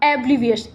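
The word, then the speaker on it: oblivious: इसका प्रोनाउंसिएशन ए होगा, एब्लिवियस, ए से होगा, ओ नहीं होगा।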